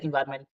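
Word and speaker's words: environment: फिलहाल इसका प्रोनाउंसिशन एनवायरमेंट जो आप कह रहे हो वही है।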